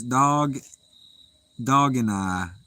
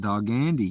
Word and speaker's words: Dog and I: It's Dog and I. Oh, not Dog Andy. Gotcha. I see that now. I was totally mispronouncing that. I didn't see no spaces, so I just kind of read it all as one. Dog and I. All right, instead of Dog Andy.